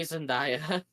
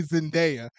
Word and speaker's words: Zendaya: I was gonna say Zendaya. Number one, that's funny because you said her name wrong. You meant to say Zendaya, Whatever.